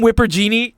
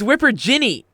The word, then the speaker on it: Whipper Ginny: Come, Whipper Genie. Are you called her? No, it's Whipper Ginny.